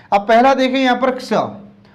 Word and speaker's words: क्ष: छत्री बोल देते हैं, तो छ नहीं बोलना है, इसको क्या बोलना है, क्ष। मतलब आधा क भी है और स भी है, तो दो व्यंजन से मिलकर बनता है ये, इसलिए इसका उच्चारण क्ष होना चाहिए।